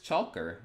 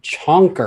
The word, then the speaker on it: Chalker: This is Chalker. It's spelled. I thought you said Chonker.